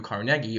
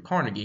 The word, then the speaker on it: Carnegie: Rockefeller, who owns Standard Oil, and Andrew Carnegie, or Andrew Carnegie, however you want to pronounce it. I've heard it both ways, who was in charge of Carnegie Steel Company.